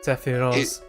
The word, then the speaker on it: Sephiroth: They actually sing Sephiroth because it's a Japanese name. From usual Japanese pronouncing of TH as Z. Ah. Huh. Sephiroth.